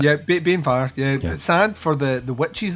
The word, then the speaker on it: Banefyre: I'm pronouncing sad that for right. the witches. Banefyre. Yeah, Banefyre.